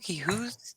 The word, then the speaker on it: Hugh: So when we see U with G, yeah, You. Mm-hmm. it's a silent G.